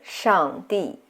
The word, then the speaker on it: 上帝: So here, 上, we use the fourth tone, which have this motion, a sharp falling tone, like when you give a command. 帝 use the fourth tone too.